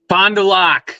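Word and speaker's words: Fond du Lac: very bottom of Lake Wabo would be Fondulac Fondulac yes that's what I'm thinking of I am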